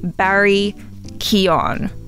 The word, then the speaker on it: Barry Keoghan: to say his name it doesn't sound anything like how it's spelt but that's the cool thing about irish names i think so i'm gonna have to commit that one to memory barry keon lovely i'm very excited